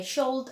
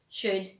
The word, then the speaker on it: should: should could and would you don't say sholde and called and world should good and would all right so that's